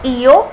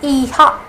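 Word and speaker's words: hija: it's EO e e not EO it's ehha uh what what kuza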